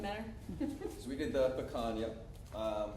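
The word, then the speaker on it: picanha: So we did the pecan, which is actually pronounced pecan. I didn't know that. So pea, yeah, like pea.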